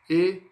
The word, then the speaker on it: étudier: Então não esqueça, 3 syllabes. Étudier, pardon. 4 syllabes. Étudier, 4 syllabes, excusez-moi. Então, 4 sílabas aí, tá? Étudier. E no sufixo, ou seja, o fim da palavra aí, pessoal, a gente não vai falar o er, tá?